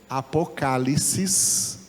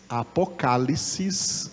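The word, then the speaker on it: ἀποκάλυψις: da palavra grega que em grego se pronuncia apocalipes apocalipes em grego e ficou em português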